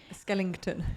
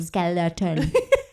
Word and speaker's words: skeleton: was like you look like a skele skon Skellington Skellington you always tell me off don't you when I say that tell you off how do you say how do you say skeleton skeleton people was like you look like a skeleton